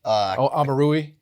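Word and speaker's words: Omoruyi: Amarui. Is that how you pronounce it? Yep. Amarui, okay.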